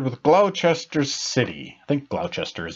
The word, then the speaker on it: Gloucester: get on board with Glo Chester city think Glo Chester is how you pronounce it and the reason why I did